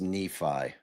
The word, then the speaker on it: Nephi: and Sariah so and it's pronounced Nephi Not neither. Nephi.